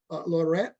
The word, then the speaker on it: Latourette: Am I pronouncing Latourette? Latourette? Yes, Latourette.